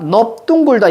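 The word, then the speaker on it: 넓둥글다: 자, 넓은 무조건 그냥 널 이렇게 발음해야 되는데 두 개. 넙죽하다, 넙둥굴다.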